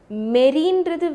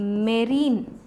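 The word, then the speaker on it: marine: So always remember, மெரீன்றது வேறு, fresh வாட்டருன்றது வேறு. எப்பப்போலாம் மெரீன், ஓகேவா, ஆக்சுவலாக இட் இஸ் நாட் மெரைன், இட்ஸ் மெரீன், அப்படி தான் ப்ரொனவுன்ஸ் பண்ணோம்.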